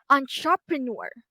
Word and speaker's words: entrepreneur: So as you can notice I highlight the the last syllable with green which means that this is where the primary stress is. Okay. Entrepreneur.